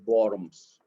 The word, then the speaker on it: Worms: la conocida dieta de worms en alemán la w se pronuncia como como ve la dieta de worms donde se le pidió